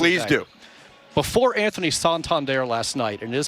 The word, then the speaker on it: Santander: Before Anthony Santander last night, and it is pronounced Santander, his 3-run triple.